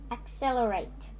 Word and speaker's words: accelerate: word is accelerate now it has it has uh um four syllable syllables the syllables are at cell la rate accelerate and the stress is on cell accelerate cell excel cell accelerate the stress is on that so that it's a